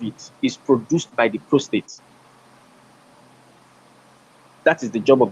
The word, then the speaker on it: prostate: years particularly you have to start screening for post-trade prostate cancer prostate that's the speed that's the pronunciation prostate cancer you have to start screening